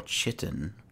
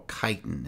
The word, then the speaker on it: chitin: i can smith alvin or chitten or chitin as some people like to pronounce it and dwarven armor i